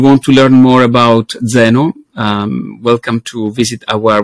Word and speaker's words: Zeno: name is written then without an h and pronounced Zeno as I said right we added the H